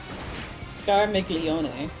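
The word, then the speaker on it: Scarmiglione: boss's name scar Mickey oh my God yeah scar milione I know how to pronounce it I'm stuttering okay scar miglione yeah good job honey proud of you I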